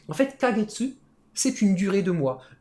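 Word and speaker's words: ヶ月: a un petit k en 4 en fait kagetsu c'est une durée de mois c'est un petit kekatakana mais ça se prononce k de base c'est un kanji mais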